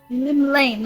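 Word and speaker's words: Llymlaen: Lim Lane, that's how you pronounce that.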